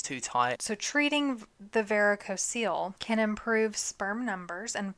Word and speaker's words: Varicocele: Varicocele, I believe that's how it's pronounced. Correct.